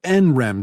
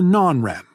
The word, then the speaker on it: NREM: between rem sleep and n-rem sleep which you can pronounce nrem or non-rem rem comes from the